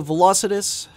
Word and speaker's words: Velocitus: and anyway sikis I'd have to say the velocitus which is the correct way to pronounce it is definitely a good choice especially